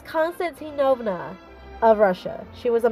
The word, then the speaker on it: Constantinovna: i know it sounds like uh lindsay holliday pronounces it as uh constantino constantinova i'm like no that's not it it's constantinovna of russia she was a member of the